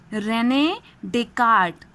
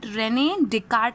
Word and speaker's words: René Descartes: The spelling of his name is this one, but its pronunciation is René Descartes. Okay, Descartes लिखा जाता है, but René Descartes is the pronunciation of this name.